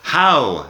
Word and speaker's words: how: El otro, how, tiene la H al principio y la W al final, pero tampoco estamos pronunciando realmente la W, simplemente tenemos como si fuera H y un diptongo.